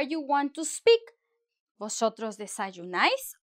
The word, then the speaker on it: desayunáis: Y en España, ellos dicen, vosotros desayunáis, desayunáis. Vosotros desayunáis con el acento en la A.